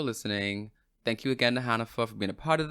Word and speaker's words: Hanifah: It's Hanifah. So that's the pronunciation of my name.